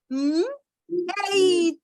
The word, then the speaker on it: mate: So to pronounce this one, we would not say mat again, we would say mate. So this becomes mate.